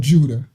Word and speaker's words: Judah: So she was like, is it could you say the name Judah is yada because it means praise. I guess you could. Right. Right. But just because something means something don't mean that's how you say it for someone else's name too.